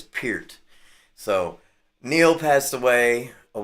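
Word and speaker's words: Peart: Um, yeah, without Neil, you know, Neil Per passed away. Neil Pier. Got to say it right. I always used to say per and I think it is Pert.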